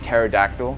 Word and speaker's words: pterodactyl: Stuff like pterodactyl. If I were to try to spell that out, T, but that would be wrong, because apparently there's a silent P.